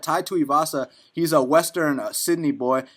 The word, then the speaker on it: Tuivasa: And from what I've seen from I don't know how to say his last name, Tuivasa, is that how you say it? Yeah, Tuivasa.